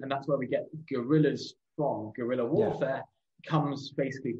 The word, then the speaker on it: guerrilla: Yeah, I mean, we should say that not everyone who was a guerrilla, for people who aren't familiar, guerrilla, which is I believe the Spanish pronunciation, literally, as you just said, stands for little war.